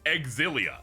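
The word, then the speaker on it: Xillia: Or as the producer said, it was called Exilia. Insane. Insane that I I learned this in the past year that that's how you pronounce those. Why does the blonde girl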